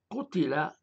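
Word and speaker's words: قُتِل: Ça se prononce kutila, ce qui signifie il a été tué.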